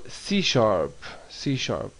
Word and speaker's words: C#: Microsoft Visual C. The pound sign is pronounced sharp.